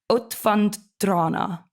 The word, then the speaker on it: Utvandrarna: You're gonna be in a film which I can't pronounce the name of. I'm going to try though. Utvandrarna.